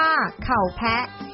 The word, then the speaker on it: ข้าวแผะ: คือ ข้าว แผะ ค่ะ ข้าว แผะ ที่ ชาว โคราช ออก เสียง เรียก ว่า เข่า แพะ เป็น อาหาร เอกลักษณ์ ของ